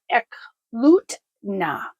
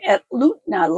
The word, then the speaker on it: Eklutna: So we're all watered up and we're going to drive out of E Lutna. I've been saying it wrong. Atlutna Lake.